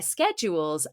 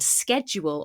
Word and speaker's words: schedule: They decided to reset their schedules after moving. Now, I've mentioned this before, but you can pronounce this word schedule or schedule. Both are fine. Schedule is more American English, but as you can